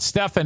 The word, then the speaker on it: Stefan: Stefan actually is how he pronounces it.